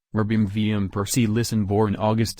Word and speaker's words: Robin van Persie: Robin van Persie, Dutch pronunciation, Robin van Persie Listen, born August 6, 1983, is a Dutch football coach and former professional footballer who played as a striker.